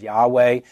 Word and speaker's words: Yahweh: We oftentimes pronounce it as Yahweh in English, and even some English translations now translate or transliterate the tetragrammaton as Yahweh.